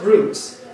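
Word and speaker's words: רוץ: And it's interesting that the Hebrew word run, I will run, is a Hebrew word roots. R-U-W-T-S, pronounced roots.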